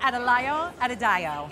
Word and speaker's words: Adelayo Adedayo: I'm going to say it right, Adelayo Adedayo.